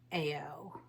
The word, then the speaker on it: Eoh: It's going to play its part and we are talking about the rune ao. It's E O H and it's pronounced AO.